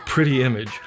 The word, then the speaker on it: Pretti Emage: by two sisters originating from clearwater florida called pretty image and that's spelled p-r-e-t-t-i second word e-m-a-g-e this is turn